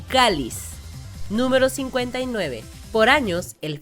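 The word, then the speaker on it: Chalice: de chares eh que se escribe y se pronuncia en inglés como calis es un tipo de copa que se usa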